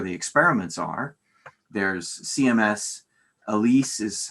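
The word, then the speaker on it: ALICE: are places where the experiments are there's cms elise is how they pronounce it lhcb and then the experiment that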